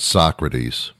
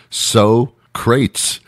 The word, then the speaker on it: Socrates: it and he says so says so-crates and I'm thinking so-crates what the hell so-crates and then I realized how to direct mispronounced Socrates oh my god it's he pronounced Socrates's so kraits I laughed for like